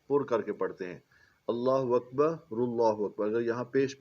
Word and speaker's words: اللہ اکبر: جو درج ہے کہ اس کا اصل تلفظ اور بہتر تلفظ جو ہے یہ اس طرح ہونا چاہیے، اللہ اکبر، ٹھیک ہے جی۔ یہ جو